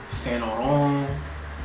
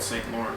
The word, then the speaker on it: Saint Laurent: So Gucci, Saint Laurent. I used to call it Saint Laurent, but it's pronounced Saint Laurent.